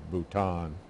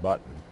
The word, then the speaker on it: Bhutan: point about thinking that Nepal and Bhutan which incidentally he also mispronounced as nipple and button our part of India